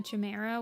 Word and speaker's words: Chimera: Like, I already make him a Chimera with a huge amount of colors.